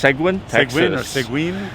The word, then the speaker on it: Seguin: the pronunciation really but i think it's segwin yeah the perfect small